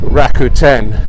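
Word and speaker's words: Rakuten: was watching a film Raku 10 have free movies with adverts that's how it's pronounced and they're really good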